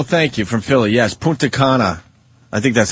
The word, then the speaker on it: Punta Cana: Yes, Punta Cana.